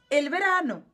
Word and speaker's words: el verano: primeira estação o verão só que a pronúncia a gente não fala o a gente fala el então a pronúncia é o verão el Verano então o verão também é masculino em espanhol mas é el Verano certo segunda Estação eh